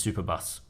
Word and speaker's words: Superbus: tarquinos and then the only way you can pronounce this name is superbus what is it superbus literally the word superbus